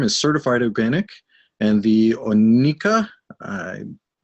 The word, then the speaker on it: Oneka: The herb farm is certified organic, and the Oneka, I butchered that. How do you pronounce it again, Philippe? Oneka.